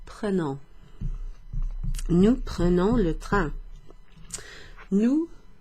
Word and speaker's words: prenons: So if there's no accent over that E, the E is pronounced E, okay? Like in je, or like in the word le.